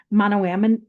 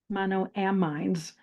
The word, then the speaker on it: monoamines: Oh, I always forget how to pronounce this word. I got an A in anatomy and physiology. Monoam. Monoamines. Let's just make it easy and say monoamines. One of the monoamine ammines is called serotonin.